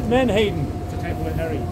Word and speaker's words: Menhaden: And let me pronounce it. Menhaden.